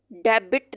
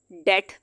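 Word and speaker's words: debt: डेट, डेबिट नहीं, अब हम इसको कह रहे हैं डेट। बी यहाँ पे साइलेंट हो जाएगा।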